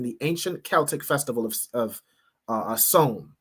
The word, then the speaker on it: Samhain: All right, Halloween has its roots in the ancient Celtic festival of Samhain, right, is how it's pronounced, which marked the end of summer and the harvest and the beginning of winter.